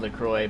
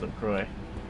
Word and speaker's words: LaCroix: It does not sound at all like it's spelled, but the way it's spelled, it sounds like it would be LaCroix or something like that. But it's like that. How do you get the Y sound from the X?